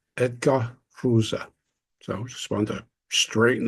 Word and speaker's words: Froese: often mispronounced Ros or fuz but actually fza edar fza so just want to straighten that out that's the actual German pronunciation so although the late